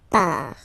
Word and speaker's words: part: Final T not pronounced. Il, elle, part.